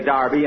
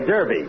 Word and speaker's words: Derby: Saturday bill that's Derby the English say Darby and the Americans say Derby yeah and the losers